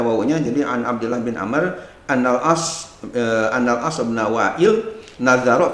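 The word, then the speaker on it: عمرو: disebutkan an Abdullah bin Amr, ya. Jadi bacanya bukan bin Umar. Pak Andre, bedanya kalau di depan ra itu ada wawu, itu Amr. Tapi kalau di depannya nggak ada wawu, itu pasti Umar.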